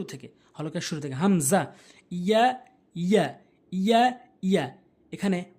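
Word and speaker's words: ي: ইয়া, ইয়া, ইয়া, ইয়া, এখানে 5 লেখা রয়েছে, অর্থাৎ জিমে আর শিন আর ইয়া এই 3টি হরফ একই জায়গা থেকে উচ্চারণ হয়, অর্থাৎ জিব্বার মাঝখান উপরে তালুর সঙ্গে, জিব্বার মাঝখান উপরে তালুর সঙ্গে।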